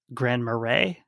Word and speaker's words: Grand Marais: At least in French, it's Grand Marais. I think that's how they pronounce the town also.